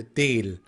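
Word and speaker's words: değil: it will be like deal the software here is kind of not pronounced so here del all right so yok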